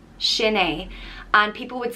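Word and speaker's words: Sin é: and it means that is it and it's pronounced shin a shinee and people would say it like if you're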